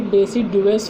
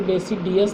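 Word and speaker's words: deciduous: बच्चों, ये डेसिडुअस forest है, इसको डेसिडियस नहीं पढ़ते, डेसिडुअस पढ़ते हैं। वो जल्दी में मैंने ध्यान नहीं दिया, ये आपका स्टूडेंट्स, इसको प्रोनाउंसिएशन, इसका करेक्ट प्रोनाउंसिएशन जो है वो डेसिडुअस है, नॉट अ डेसिडियस।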